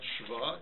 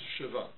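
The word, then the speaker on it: שְׁוָא: So it's not shva, it's shiva.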